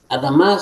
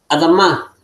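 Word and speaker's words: אֲדָמָה: la Hataf Pataj, esta Adamá. Recuérdense que cuando tenemos dos kamat, la segunda se va a acentuar más fuerte. Por eso se acentúa más fuerte la última sílaba.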